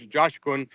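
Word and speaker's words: Coşkun: Uh, it's pronounced with a J. So, it's Josh Kun.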